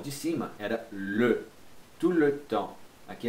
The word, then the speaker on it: tout le temps: Então você não vai falar tout le temps, pode ser tout le temps, mas você não pronuncia esse T aqui. Já vi muita gente falar tout le temps. Não, esse T aqui não pronuncia, nem esse S, tá bom?